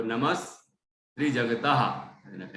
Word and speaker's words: नमस्त्रिजगतः: देखो त्री के अंदर जो सा दिख रहा है ना, आधा सा, ये इसको अलग लिख दिया गया है यहाँ पर। तो नमस् त्रिजगतः ऐसा पढ़ना होता है।